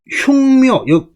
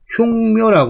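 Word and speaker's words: 畜猫: 가유 흉묘, 분명히 흉묘라고 그래요.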